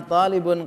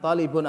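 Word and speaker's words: طالب: murid lama kan ana tolibun kodiman Iya ana tolibun Kodim jangan talibun atau kali pun nanti kebiasaan susah makan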